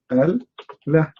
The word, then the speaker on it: Allah: So that will make it Al-Lah. This is the true name of Allah. Al-Lah. But because we are trying to make it pronounced correctly, so we are adding A between the L and the H. But in fact, there is no A.